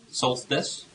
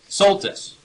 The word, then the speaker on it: Soltis: Cupp, who challenged us to call out Rush Limbaugh, and our good friend Kirsten Solstice. Am I pronouncing that right? Anderson. Soltis.